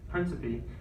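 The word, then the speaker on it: Príncipe: It's like Principe. That's how I pronounce it.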